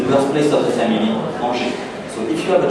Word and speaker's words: Angers: Alors the right pronunciation is Angers. So can you repeat after me, please? Angers.